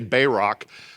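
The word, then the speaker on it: Barak: weeks gideon and beric we debated the pronunciation of barrick or barack so i'm gonna say bayrock because i think that's much cooler um and you know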